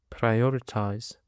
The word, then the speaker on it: prioritize: Now let's move to another word, which is prioritize. Prioritize. The stress is on the second syllable.